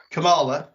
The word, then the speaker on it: Kamala: around finding the comic books I'll probably just butcher the name yeah come on Kamala yeah that's it Kamala um finding those